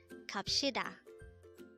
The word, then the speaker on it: 갑시다: again it's kapshida the word is the formal way of saying